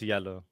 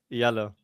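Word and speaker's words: Jelle: So, my real life name is it's yellow. Wait, how do you say that? Yellow.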